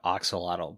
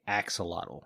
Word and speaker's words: axolotl: I say axolotl. I heard some people call it oxalotl, but every time I see it, like the pronunciation written, they say axolotl.